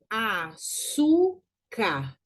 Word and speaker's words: Açúcar: Açúcar. Eu tenho ali um acento no U, na segunda sílaba. Açúcar. Então, eu tenho ali uma paroxítona terminada em R, ok?